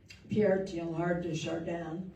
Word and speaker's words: Pierre Teilhard de Chardin: Great quote from Pierre Teilhard de Chardin, and I think I have almost learned how to pronounce that over all of these years.